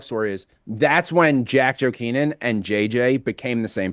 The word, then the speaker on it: Jokinen: It's pronounced Jokinen.